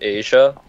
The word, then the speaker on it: Isaiah: It's pronounced Asia.